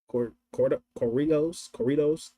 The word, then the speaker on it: corridos: I used to say listen to Corridos. That's how you say it.